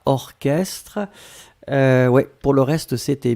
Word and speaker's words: orchestre: La première chose c'est orchestre. Souvenez-vous, C'est bizarre, mais il existe certains mots qu'on écrit ch, mais qu'on prononce que.